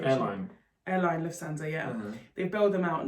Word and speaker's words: Lufthansa: Lufthansa, I think is the pronunciation. Yeah, Airline Lufthansa, yeah.